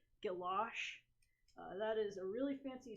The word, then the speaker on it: guilloche: And if you want to pronounce this like a French person, you would call that guilloche, or you might have heard it pronounced as gouache.